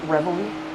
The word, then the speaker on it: Reveille: I think it's pronounced Revel, maybe. Yes. Reveille.